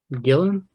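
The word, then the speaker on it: Gillan: uh Karen's Jill Jillian Gillen how you pronounce her last name Dylan oh oh okay yeah yeah you know I'm talking about that uh that gather plays like uh Dylan Dylan okay Cooper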